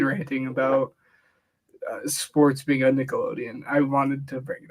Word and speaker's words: Nickelodeon: that one clip of the dude pronouncing Nickelodeon wrong no no no was it Nickelodeon yeah it was Nickelodeon he called like he called it like nickel loan it was funny it